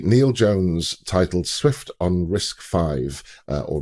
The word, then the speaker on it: RISC-V: a post by Neil Jones titled Swift on risk five uh or risk V which I I have been uh I've been reading the Wikipedia article and apparently it is pronounced risk risk five now I didn't know a lot about risk